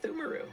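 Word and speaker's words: Pthumeru: How do you pronounce that shit? It is in fact Thumaru, yeah.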